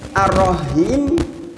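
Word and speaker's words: الرحيم: Yang benar adalah bunyi "ha" yang berasal dari tengah tenggorokan. Karena maknanya sangat berbeda. Jika kita mengucapkan " bismillahirrahmanirrahim," "Ar-rahim" bukanlah "ar-rahim."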